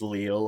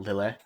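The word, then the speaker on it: Lille: the other day that it is leo and not lily um yup oh interesting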